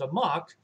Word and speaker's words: amok: amok comes from malaysia there's a malaysian word that's pronounced a mock which when literally translated